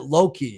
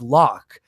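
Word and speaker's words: Locke: the the character lo as a kid I pronounced it Loki because I had the e at the end for my entire life until I was a few years ago my buddy's like Loki know it's lock but when I saw the name it just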